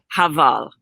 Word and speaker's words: Heval: Heval.